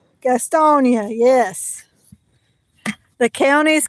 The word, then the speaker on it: Gastonia: Remember the character Gaston from Beauty and the Beast movie? You remember that character? It's spelled kind of like that. Yes. Yeah, well, if you take Gaston's name and you put an IA at the end of it, that's how, yes.